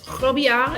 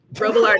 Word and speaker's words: Robillard: That Holy is, and by how you're supposed to pronounce it, I mean like how they pronounce it in France, but my family's from Wisconsin, so Robillard is the way that we pronounce it.